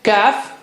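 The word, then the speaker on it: ك: how do you say calf it's just like K of English that's the inner part of the tongue to the roof of the mouth right at the back cut this is kaf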